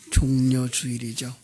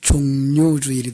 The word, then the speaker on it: 종려주일: 그래서 종려주일이죠. 이제 우리가 발음을 잘못하면, 자칫 잘못하면 종료주일이 되버려요.